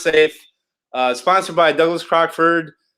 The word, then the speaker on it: Seif: leading up to is the safe project pronounce safe uh sponsored by Douglas